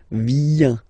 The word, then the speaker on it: viens: Remember this I, viens, viens, and then this nasal final S not pronounced.